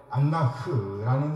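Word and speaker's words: אֲנָךְ: 다림질이죠 다림줄입니다 담임줄이라고 보낼 때가 있는이 단어는 본래 안나흐라는 단어에요 여기 흐라는 단어는 히브리어 알파벳 카프라는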